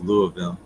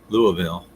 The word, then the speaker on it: Louisville: It's kind of like Louisville, Kentucky, pronounced Louisville. Louisville.